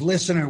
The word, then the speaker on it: listener: First of all, if Jim ever, what he did a minute ago, if he ever pronounces listener with the T again, I will find him and stab him to death.